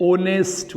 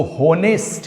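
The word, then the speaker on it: honest: लेकिन जब हम बोलते हैं भैया मेरे कुछ ऐसे वर्ड, जैसे हम बोलते हैं ऑनेस्ट बॉय, ईमानदार लड़का, एच कॉन्सोनेंट से शुरू हुआ, लेकिन हम इसको होनेस्ट नहीं पढ़ते, इसको हम पढ़ते ऑनेस्ट बॉय, अर्थात ओ से पढ़ते हैं, वॉवेल, ओ इज वॉवेल।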